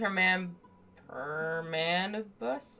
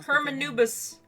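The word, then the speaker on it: Hermanubis: some friends with connections to the specifically with her man permanus. Oh no, I probably butchered that. Oh, I know who you mean. General Mahamatra Sino, the spirit of Hermenubis. While Hermenubis, that's it.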